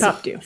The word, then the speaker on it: Pitpopdew: It is Pitpopdew. 3 syllables jammed together in one nonsense word.